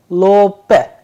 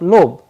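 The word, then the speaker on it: лоб: lobe which means forehead if we pay attention to the devicing of consonant at the end b is changing into pair that is why the pronunciation is coming as lopez instead of lobe lope lope volasi volasi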